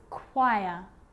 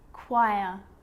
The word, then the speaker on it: choir: occasions it's not pronounced the H is silent so it's choir choir echo echo with a